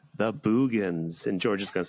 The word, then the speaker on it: Boogens: Everything we say after this depends on the fact that it's pronounced The Boogans.